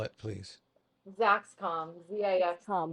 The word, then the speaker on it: Zaxcom: Say it again and like spell it, please. Zaxcom, com. ZAXCOM.